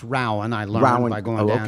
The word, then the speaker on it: Rowan: It's pronounced Rowan.